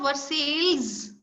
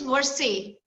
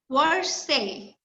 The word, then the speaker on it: Versailles: It is not Versailles. You might be pronouncing it as Versailles. The correct word is Versailles. Versailles.